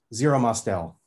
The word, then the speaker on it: Zero Mostel: How do you pronounce his name again? Zero Mostel.